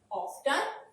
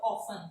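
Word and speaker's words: often: ऑफ्टन और ऑफन दोनों तरह से इसे प्रोनाउंस कर सकते हैं।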